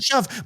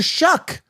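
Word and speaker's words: Shough: So it's Tyler Shuff. But here's the thing. They're calling out Tyler Shuck.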